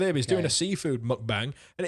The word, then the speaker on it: mukbang: Anyway, and he's doing a mukbang, which I think is how it's pronounced.